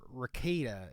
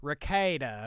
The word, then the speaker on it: Rekieta: about Nick raada okay I've been getting the name wrong this whole time ra rakita is what me and my co-hosts have all been saying but it's raada okay get it right raada which you know sounds